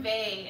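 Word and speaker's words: Weil: anybody ever read Simone Bay her last name is spelled w-e-i-l I read Simone Vey in college that should affected me a lot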